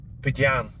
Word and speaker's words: Budian: Budian. That's the way the Spanish pronounce it. They tend to speak very quickly, so the names sound different than I would pronounce.